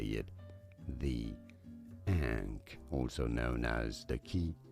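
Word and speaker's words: ankh: Ank. Is that what it's called? Am I saying that word right? Ank. It's like an N kh. Now I'm immortal. yeah, dude. No, it's not unc. That's different.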